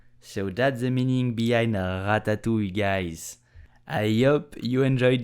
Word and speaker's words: ratatouille: First, you have to know how to pronounce the R like a French. So, ratatouille, ratatouille, ratatouille.